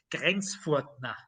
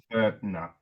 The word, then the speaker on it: Grenzfurthner: way in German to sometimes you spell the T with an H, but it's not a th, it's just a T. It doesn't. So the correct Austrian German way to pronounce it is Grenzfurthner.